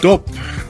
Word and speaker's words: dop: let's go have a DOT what does that mean I might be saying it wrong you pronounce it let's go have a dope it's the same like